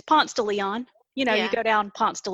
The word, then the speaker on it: Ponce de Leon: And sort of like even here in Atlanta, nobody says Ponce de Leon Avenue. It's Ponce de Leon.